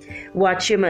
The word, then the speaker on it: Huachuma: Huachuma is spelled with an H.